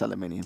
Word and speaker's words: aluminium: equations on that bits and pieces but it's pronounced aluminium oh wow ok so so so King vana